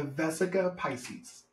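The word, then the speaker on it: Vesica Piscis: Well, how do you pronounce it? The something Yeah. Pisces. Life inside the Vesica Pisces.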